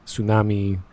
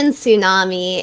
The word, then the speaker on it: tsunami: hard to pronounce things apparently the t in tsunami isn't silent uh well you know